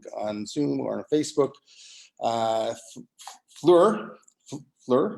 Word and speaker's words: Fleur: For those of you watching on Zoom or on Facebook, Fleur is, that's the way you pronounce it, not Fleur, like a lot of people, like I thought also.